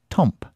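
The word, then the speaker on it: temps: Temporary, temp, pronounced temp, is the French word for time, also the word for weather.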